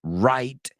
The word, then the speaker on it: Wright: but not least Robin Wright and remember that W is silent and we looked at